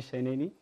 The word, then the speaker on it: Sheneni: How are you, Sheneni? I'm fine. Yeah, I hope I got that pronunciation right.